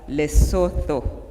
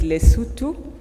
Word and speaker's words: Lesotho: of how to pronounce I used to pronounce it as Lesotho but she said it is Lesotho something like that thank you so much